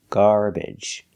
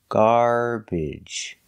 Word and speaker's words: garbage: three pronunciations are correct when the syllable is not stressed you can pronounce it with the uh or the e sound garbage garbage and garbage all three are correct example salad again the